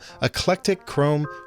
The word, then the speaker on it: Eclectachrome: conversation with the one and only Molly from eclectic Chrome YouTube channel and yes I said it right